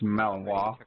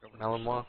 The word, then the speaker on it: Malinois: It's Malinois. Malinois, thank you.